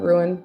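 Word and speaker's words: Rouen: Because I like I think they're called ruin. I think it's pronounced ruin.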